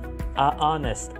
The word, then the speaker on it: honest: loud though such as honest this is because the H is silent and so you may